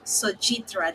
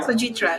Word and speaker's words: Sojitra: Anyway, I'm here, and today I have the founder of ServerAvatar, Sojitra. Did I pronounce the last name correctly? Yeah, yeah, you Sojitra. pronounce it Okay, correctly.